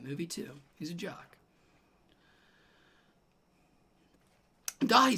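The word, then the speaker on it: Dáithí: Pronounced Dahi. Dahi. Irish for David.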